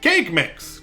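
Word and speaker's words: Kaqemeex: pronounce it cat techniques if i go to the wiki pages we would say cake cake mix cake your name is cake mix okay and he will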